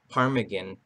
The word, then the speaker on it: ptarmigan: So the T is silent.